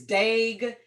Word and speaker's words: Dagry: But to give you an easy way to pronounce it, it's Daig as in vague. So it's really, really simple. Daig as in vague.